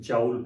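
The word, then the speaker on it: joule: के यूनिट को वैसे आप लोग जाउल पढ़ते थे, कुछ लोग जूल पढ़ते हैं, जाउल पढ़ते हैं। हम यहाँ पे कोई इंग्लिश की क्लास नहीं हो रही बेटे कि हम प्रोनाउंसिएशंस को लेके टाइम ज़ाया करें, जैसे आप लोग कंफर्टेबल हैं। जूल भी पढ़ा जाता है, जाउल भी पढ़ा जाता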